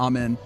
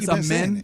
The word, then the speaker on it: Amen: saying his name incorrectly I heard am men it's I I I I put the emphasis on the first syllable I I usually say Amen but it's like it's aen aen am men Thompson okay so I'm trying to make sure I get that right Aaron saying that's right